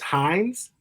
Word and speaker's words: Hines: day in 2028 Elijah which is Hines it is hin yeah different spelling to the ketchup company but the same pronunciation and you have stormed